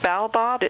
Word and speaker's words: Baobab: I pronounce it baobob.